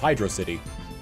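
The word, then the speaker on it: Hydrocity: hydr City or hydrosity they're two words so it's hydroc City like if you look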